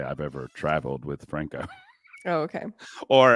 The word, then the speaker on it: Franco: What did y'all think about this interview with Franco, one of the founding members of the guild?